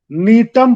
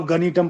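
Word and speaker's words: Gnetum: पढ़ेंगे, DR, इसमें हम नीटम पढ़ेंगे जिसमें जी साइलेंट है, नहीं तो आप गनीटम पढ़ दोगे, एटसेट्रा।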